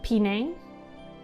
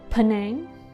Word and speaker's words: Penang: isn't it just pinning apparently we call it penang not paneen we say pine but